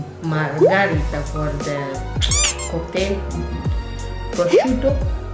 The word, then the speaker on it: prosciutto: Prosciutto. Prosciutto. Prosciutto. Double T. Prosciutto. Yeah.